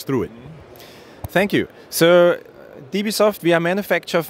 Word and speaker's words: Dewesoft: He's with the, the Europeans pronounce W sometimes with Vs. Is it Dewesoft or Dewesoft?